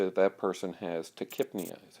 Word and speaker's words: tachypnea: A person who has then rapid breathing, tachypnea, we would say that that person has tachypnea, is how that's pronounced.